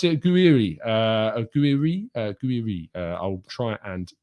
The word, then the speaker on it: Gouiri: Manu telling me you pronounce it Gouiri. Gouiri.